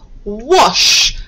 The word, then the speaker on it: wash: somebody washing their hands wash remember the rule after the we can often hear the short r sound which is spelt with an a wash see if you can